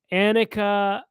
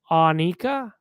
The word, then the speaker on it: Anika: And I said in my video I called her Anakah Niles and PE just because that's how Getty Lee pronounced her name. But people are commenting that it's pronounced Anika.